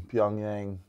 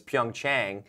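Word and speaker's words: PyeongChang: the Winter Olympics in pongyang Korea it is South Korea South Korea I forgot that we were split it's not Pyongyang actually that's North Korea so it's pyong Chang P Korea I say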